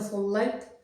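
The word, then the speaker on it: صليت: হচ্ছে আমি নামাজ পড়েছিলাম যেহেতু আঞ্চলিকতায় বা একটা বাক্যের শেষে বা শব্দের শেষে যে ইয়ে থাকে হরফ থাকে আর এটার উপরে যে হারাকাত আছে এগুলা পড়তে হবে না সুতরাং এটা যদি আপনারা হারাকাত ছাড়া উচ্চারণ করেন তাহলে মানে কখনো কাউকে যদি প্রশ্ন করেন সল্লাইত মানে হচ্ছে তুমি নামাজ পড়েছিলে আর যদি নিজের জন্য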